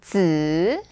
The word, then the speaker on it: 子: But here, the important thing was that this fifth tone, 子, is just an ending to make nouns.